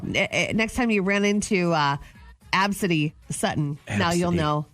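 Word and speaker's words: Abcde: I just think it's so funny because obesity is wild. It's pronounced Absidy. A-B-C-D-E, Absidy.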